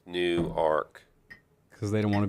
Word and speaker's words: Newark: It's spelled exactly the same as Newark, but they all say no, it's Newark.